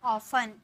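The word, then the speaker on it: often: ओ एफ टी इयान इसे हम बोलते हैं ऑफन बहुत सारे स्टूडेंट ऑफन बोलते हैं लेकिन यहां पर ना टी का उच्चारण नहीं किया जाता है बोला जाता है ऑफन ऑफन ठीक है ऑफन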